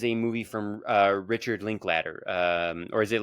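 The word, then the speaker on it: Linklater: Um, so this is a movie from, uh, Richard Linkladder. Um, or is it Link Later? It's spelled later, but I think it's pronounced Ladder.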